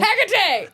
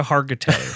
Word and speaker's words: Hargitay: Haggerty! And then fucking bounces. Yes, it is Mariska Haggerty Haggerty? of I don't know how to say her TV last fame. name. Oh, Mariska Hargitay.